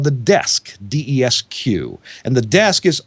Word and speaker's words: DESQ: Again, that's spelled RAQ. It's kind of IKEA-like, right? It's called the Desk, DESQ.